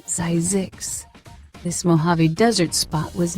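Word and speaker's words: Zzyzx: The town named Zixs, yes, it's real. Pronounced Zizix, this Mojave Desert spot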